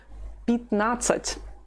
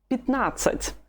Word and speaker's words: пятнадцать: The stress is on the second syllable. That is why something strange happens to the letter ya. It is not stressed anymore. So when it's weak, we say it like this. I. Instead of пятнадцать, it's пятнадцать. Пятнадцать.